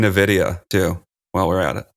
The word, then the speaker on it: Nvidia: Let's just start saying Nvidia, too, while we're at it.